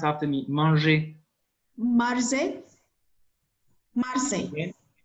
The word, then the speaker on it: manger: Car j'aime manger. Good. For the last word for eating is manger. Can you pronounce after me?